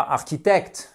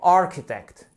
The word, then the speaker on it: architect: vous suiviez journalistchit et c'est pas architect c'est architect vous avez vraiment une accentuation qui se fait juste ici continuons bon évidemment tout